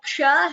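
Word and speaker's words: क्ष: It has k and sh. The k is an Alpaprana, whereas sh is a Mahaprana letter.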